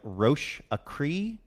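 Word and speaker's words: Roche-A-Cri: It's like Roche Acree. It's ROCHE.A.CRI.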